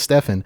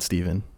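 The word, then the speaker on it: Stephan: My name's Steven, spelled the PH and an A, so you think it's Stefan, because phonetically that makes sense, and every single person I've ever read my name to has said, you mean Stefan? And I say, no, I mean Steven.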